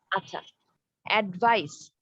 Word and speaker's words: advice: আচ্ছা অ্যাডভাইস ADVICE এটা হচ্ছে অ্যাডভাইস। ভাইস, ওকে, সি হবে লাস্টে উচ্চারণটা, লাস্টে প্রোনাউন্সিয়েশনে সি আসবে, অ্যাডভাইস।